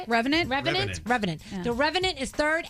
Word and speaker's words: Revenant: The Reverend, is that how you say it? Revenant? Revenant.